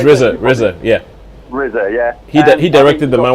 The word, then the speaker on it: RZA: RZA, yeah.